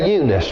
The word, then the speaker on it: Eunice: then thy mother unice now if we say that today we'd say eunice but my self-pronouncing pronouncing bible can i say pronouncing my self-pronouncing bible says united sees the way it's it's spelled out so that's what we're going to call her he said i'm